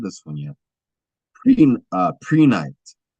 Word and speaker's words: Prehnite: Prenite. And that's spelled Prehnite. Pre-night.